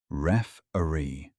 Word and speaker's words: referee: DECIDE WHAT IS FAIR A SMALL PRONUNCIATION TIP WE SAY REFEREE WITH THE STRONG SOUND AT THE START FINALLY THE MOST IMPORTANT